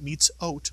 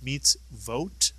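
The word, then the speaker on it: מצות: on top of it don't think it's an oat it's not meets o oh no it's meets vote and of course meets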